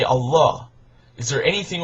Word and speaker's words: Allah: hebrew aramaic and arabic and in arabic it's pronounced allah that it means god no different thank you